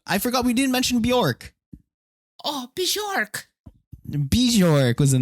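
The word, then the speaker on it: Björk: But are we pronouncing her name wrong? No, it's Bjork. It's right. Bjork? That's how you say We're Bjork.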